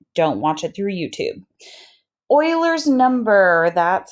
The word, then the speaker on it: Euler: credit for it don't watch it through YouTube Oilers number that's how this EUL er is pronounced Euler's number is just like pi it